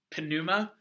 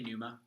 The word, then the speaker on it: pneuma: university world yeah you you don't have to say Ponemah you don't pronounce all those first two letters it's it's a little hard but you can just say pneumo pneumatics comes from the